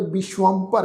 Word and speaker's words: विश्वंभर: इस शब्द बारे पहला भी सत्संगत जी मैं तुहाडे नाल डिस्कस किया सी, इहदा पाठ उच्चारण करांगे विश्वंभर है।